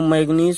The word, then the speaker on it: मैग्नीज: Cr परमाणु क्रमांक 24, मैग्नीज, देखो इसमें मैग्नीज, ये मैंगनीज नहीं पढ़ेंगे, मैग्नीज, ये यन साइलेंट है, आ रहा है बिंदी की तरह से, मैग्नीज Mn परमाणु क्रमांक 25।